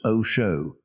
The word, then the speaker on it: Osho: Osho, pronounced Osho, he explained its meaning.